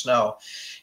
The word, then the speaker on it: Sno: underground group called snow Sno pronounced snow and it's spite stands